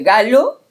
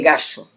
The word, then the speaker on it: Galo: Él lo dice por esto de galo, que no sabe pronunciarlo porque él dice gallo y en realidad mi apellido es con una L.